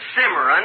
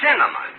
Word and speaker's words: cinnamon: it can you look it isn't simmeron it's cinnamon now let me ask